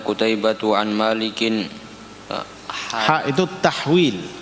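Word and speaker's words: تحويل: Jadi kalau ada hak begitu kamu bacanya tahwil, ya.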